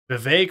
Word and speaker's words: Vivek: but Biden but Biden Vivek rhymes with cake